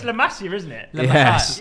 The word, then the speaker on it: La Masia: That's the most it's La Masia, isn't it?